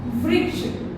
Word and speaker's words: वृक्ष: री की मात्रा से हमारा एक शब्द है व में री की मात्रा व्री और श, वृक्ष।